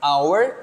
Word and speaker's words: hour: you can see here the transcription our H is not pronounced and I'm going to